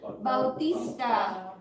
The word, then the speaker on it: Bautista: said the wrestler Batista they said Americans cannot pronounce his last name but his real last name is Bautista which is a Filipino last name his dad is Filipino yeah so he just dropped this one cuz Americans can't pronounce it that was the history